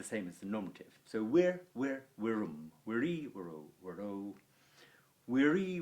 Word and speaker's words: vir: And then finally, vir, which means a man, very hard word to say that. If, like me, you can't roll your R's very well. It's a short I and a rolled R. Vir.